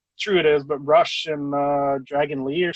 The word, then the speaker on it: Rush: I don't know how true it is, but Rush and uh Dragon Lee or something like that. Rou, first of all, it's pronounced Rou.